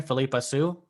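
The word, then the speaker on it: Phillipa Soo: Philippa Sue.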